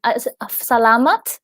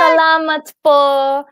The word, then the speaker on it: salamat: Salamat? Is that Yeah, yeah. thank Yes, you, right? correct. Salamat po.